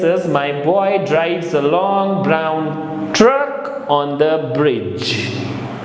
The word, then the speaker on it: long: Un is L-O-N-G, G will not be pronounced, so it becomes long.